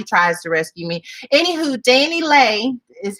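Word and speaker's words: DaniLeigh: point because nobody tries to rescue me anywho danny lay is how you say it is um facing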